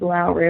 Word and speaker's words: Lowry: and I'm amused because the Germans have a difficult time pronouncing her last name with its W, which they want to say is V.